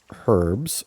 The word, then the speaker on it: herbs: I can experiment with herbs or herbs depending on how you want to pronounce it together with The Fawns